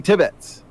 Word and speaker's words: Tibbets: Steven Tibbets. There, I got it. Yes. There we go. See, You'll forget it. You'll forget it every time. Accent the first syllable, not the second.